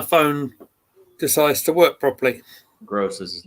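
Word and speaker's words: Groß: was offside Germany have gone up 2 one grob scor but that's how you pronounce it I will have another look as soon as my phone decides to work properly gross is his name never mind okay horrible pronunciation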